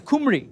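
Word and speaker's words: Cymru: really is that no the word from for wales is kumri but i pronounce it kimroo but akumbri is what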